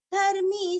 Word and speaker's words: धर्मी: आगे 64 धर्मगुप्त धर्मकृत धर्मी सदसक्षरमक्षरम् अविज्ञाता सहस्रांशुर्विधाता कृतलक्षणः। धर्म गुब गुरस्व और आधा ब गुब धर्म क्रुद कृति का कृ और आधा द क्रुद धर्मी धर्मी मी दीर्घ धर्म गुप धर्म कृत